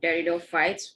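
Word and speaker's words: Pteridophytes: so peridot fights will start off with peridot fights peak is silent okay now what are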